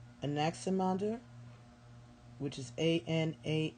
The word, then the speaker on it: Anaximander: es okay I don't know that how to pronounce these I'll be honest Anaximander Anaximander which is a in a X I am